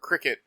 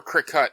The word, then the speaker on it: Cricut: So, for the listeners, my sister's doing crafting with her Cricut, or Cricut, however you're supposed to pronounce it. I thought it was pronounced Crycut.